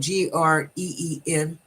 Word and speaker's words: Greenwich: even the town um it's the way you see it is not how it's pronounced oh that's true it's spelled g-r-e-e-n-w-i-c-h okay you pronounce it